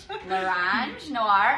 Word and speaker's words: L'Orange Noir: Then I'm going to say L'Orange Noir. Oh, yeah, that one's good. Did I say that right? L'Orange. L'Orange. L'Orange Noir. I bet you've been wondering how to say it too. So now you know.